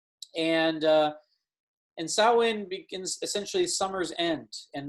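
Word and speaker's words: Samhain: kind of looks like when you write it sam hayne but actually it's pronounced sao in and uh and sawin begins essentially summer's end and the in the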